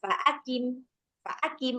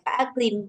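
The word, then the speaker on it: فأقم: Fa'akim, bukan fa'aklim, gitu kan. Nah, jadi dia tebal tapi nggak sampai setebal ketika huruf qaf berbaris atas ataupun dhammah.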